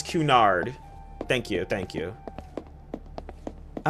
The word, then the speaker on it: Cunard: Oh, it's Cunard. Thank you, thank you. I was like, am I pronouncing that right?